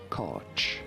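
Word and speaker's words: Koch: So this is a name of German origin and this is why in English the pronunciation is not obvious and it's never 100% sure and accurate I suppose.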